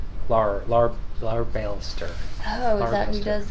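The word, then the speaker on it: Larbalestier: Leibeister? I forget how to pronounce his name. Larbalster.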